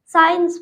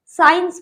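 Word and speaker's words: science: क्या है सी है, तो इसमें हम सी को नहीं पढ़ेंगे, साइंस पढ़ेंगे। तो साइंस तो नहीं पढ़ेंगे, साइंस पढ़ेंगे क्योंकि सी जो है वो साइलेंट है।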